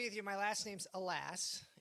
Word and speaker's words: Elass: My last name's Elass. It's E-L-A-S-S, but pronounced Elass.